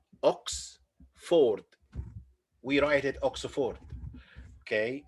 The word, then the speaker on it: Oxford: write at oxford okay many people say it oxford and we write it ox ford in arabic like this but also it's not for right it's not oxford yes it's not oxford it's oxford oxford this is one of